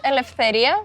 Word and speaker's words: Eleftheria: It's Eleftheria, but it's okay. It's pretty close.